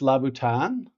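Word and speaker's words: Louboutin: didn't know this yeah so I think it's pronounced lautan essentially anyway they just call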